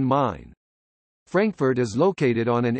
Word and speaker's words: Main: main means frankfurt on the mon pronounced like english mine or german mine frankfurt is located on